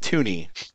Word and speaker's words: Tunny: that says tunny t look it's pronounced tuny all right yep God